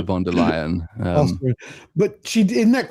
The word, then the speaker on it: von der Leyen: It's a surname appropriately rhymes with liar, so it's still a von der Leyen.